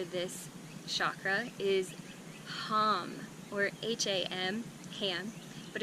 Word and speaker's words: Ham: The Sanskrit mantra for this chakra is Ham, or H-A-M, ham, but it's pronounced Ham.